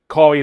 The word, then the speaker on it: Kawhi: watch this whole deal that's going on with Kawi Leonard and played for the Toronto Raptor. Kawawaii, let's say his name, right? Kawhi.